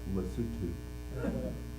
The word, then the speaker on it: Lesotho: I think technically it's pronounced Lesotho.